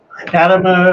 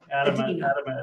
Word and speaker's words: Adema: Adma or we answer to it all. Adema gets spelled right. Ada is how we say it.